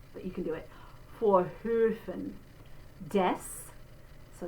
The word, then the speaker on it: Vorhöfen: So if you want to build up to it, do O first, that's one way, O, and then through it, while you're holding it out, do A.